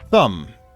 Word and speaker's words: Thum: Thum. Pronounced tomb, sorry.